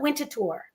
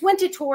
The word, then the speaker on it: Winterthur: a little tricky right we call it winter tour right but really it's spelled w n t er winter like the season and then T Hur so sometimes people say winner th it's winter tour it's named after a